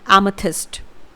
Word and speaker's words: amethyst: तो जी, अगला जो रत्न है वो है जमुनिया, जमुनिया रत्न, और इसे इंग्लिश में कहा जाता है एमेथिस्ट। एक बार फिर से, एमेथिस्ट। इसकी स्पेलिंग होती है AMETHYST, एमेथिस्ट।